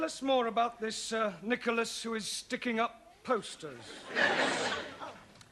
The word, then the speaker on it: Nicholas: upon a times there was a man called nickel ass it's not quite right no no once upon a time there was a woman called niichel ass it's pronounced Nicholas all right once upon a time there was